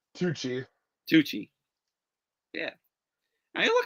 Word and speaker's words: Tucci: I always mispronounce his last name. It's Tucci.